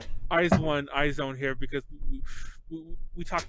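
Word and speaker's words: IZ*ONE: Oh yeah, we call iZone iZone here because we talked crap about how stupid their name was years ago when they were.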